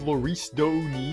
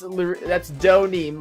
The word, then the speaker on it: Donim: As I recall, aren't you calling yourself Loris Doni now? Oh yeah, I forgot about that actually. That's wait, what? What's the difference in pronunciation? I mean, the letters are different, but wouldn't that be pronounced the same? I don't get it. That's Donim, Loris Donim. Get it straight.